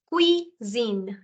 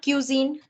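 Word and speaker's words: cuisine: then okay then say so here it is Quine it's not cuine it's Quine try this Quine this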